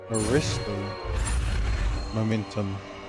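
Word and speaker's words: Arresto Momentum: quidditch match precise delivery movements oh so it's pronounced Aristo momentum and I'm butchering these names well according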